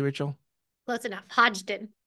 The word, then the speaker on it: Hodgdon: And did I pronounce that correctly, Rachel? Close enough. Hodgdon. Hodgdon.